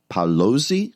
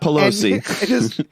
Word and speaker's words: Paolozzi: He's knighted Sir Eduardo Paolozzi. I think that's how you say it. Not Pelosi. And his partner Edelson.